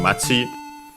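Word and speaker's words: 町: And by the way, in this case, we actually would hear the accent, it being accented on the last syllable because we had the particle ni. So, Machi ni. So, low, high, low.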